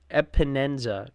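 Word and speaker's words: Epenesa: You got Micah Hyde, you got Leonard Floyd, Taylor Rapp, Jordan Phillips, Shaq Lawson, AJ Epineza. I think, what is it? Epinenza.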